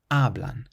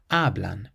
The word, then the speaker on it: hablan: This next word ends in an N. So the sun rule says we have to place the stress on the syllable before last. Hablan. Hablan. It means they speak. Then we have a word that